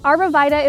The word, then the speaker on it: arborvitae: So I'm planting North Pole Arborvitaes. Arborvitae is the way we pronounce the name in my area. Arborvitae is another way I've heard it, which is probably proper, but I'm going with what I know here.